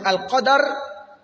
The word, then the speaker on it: al-Qadr: Ce que j'ai dit, que Al-Qadr avec Soukoun, l'idée va directement sur la grandeur, mais le mot signifie également le destin. C'est la prononciation Al-Qadr qui signifie directement le destin.